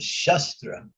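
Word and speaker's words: शस्त्र: There are two things. One is called Shastra and one is called Shastra. Both are spelled the same, but the emphasis is said differently.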